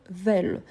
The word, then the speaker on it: veulent: Donc, attention surtout à cette prononciation-là. Ils peuvent, ils veulent. Peuvent, veulent. Ici, on reprend donc la base du singulier. EU. Donc, c'est pour ça qu'on a ces sons plus ouverts.